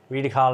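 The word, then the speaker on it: Rhydycar: Riedekar, is that how I pronounce it? Riedekar Leisure Centre. Yes, got it this time. Riedekar Leisure Centre.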